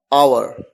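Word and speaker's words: hour: और ऐसा भी कहा जाता है कि एच एक साइलेंट है, इसी वजह से भी आवर की ध्वनि आती है, आवर।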